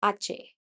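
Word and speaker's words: hache: Jota, like H is not H, it is Ache.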